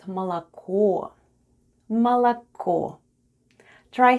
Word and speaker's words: молоко: And the last new word for today is МОЛОКО /malako/ МОЛОКО /malako/, which is Russian for "milk." Let's spell the word МОЛОКО /malako/: the first sound is /m/, then goes О... It's unstressed and it's pronounced as /a/.